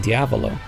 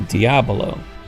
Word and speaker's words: Diabolo: It's interesting, though, to notice that the message Ota tells us about uses the common mispronunciation in Diavolo, meaning devil, whereas it's normally meant to be Kramer Diabolo, the game that the shape is named after.